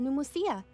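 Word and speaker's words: Pneumousia: Besides Indemnitium, we have another type of energy called Pneumosia. What? Why have you got a silent P there?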